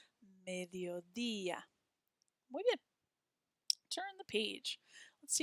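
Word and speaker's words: mediodía: have the next day e with an accent mark on it and ah mediodia hear how it's a little bit stronger on that accent mark mediodia turn the page let's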